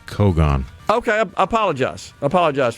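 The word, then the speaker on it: cogon: A lot of folks saying it's Kogon. Okay, I apologize. I apologize for that. So, pronounced like photon.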